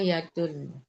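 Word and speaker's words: يدٌ: Kenapa yadu? Nakirah harusnya ditanwin. Ummu Halim nanggung-nanggung bacanya. Waha anta laka yadun. Nah, begitu yadun. Kalau ada alif lam baru al yadu.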